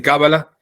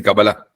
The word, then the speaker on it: Kabbalah: Es decir, la Kabbalah primero no se dice Kabbalah, sino se dice Kabbalah.